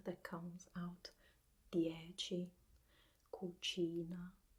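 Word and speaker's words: dieci: these two words DHE or it should be pronounced the edgy and Cucina we focus we focus on C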